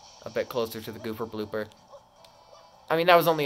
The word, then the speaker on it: Gooper Blooper: Gooper blooper.